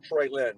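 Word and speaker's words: Treylon: Yeah, it's Lon, but he pronounces it Traylon.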